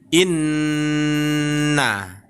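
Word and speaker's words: إِنَّ: Tapi kita membacanya Bapak dan Ibu ya, kita lamakan sedikit. Seakan-akan ada huruf n tambahannya lagi ya. Jadi bacaannya menjadi inna. Nah, begitu juga dengan mim bertasdid Bapak dan Ibu ya.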